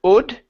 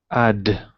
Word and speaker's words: odd: Instead of odd, it's odd. Add. So not add. Okay, so we don't want to go wide. We want to go open, drop the jaw down.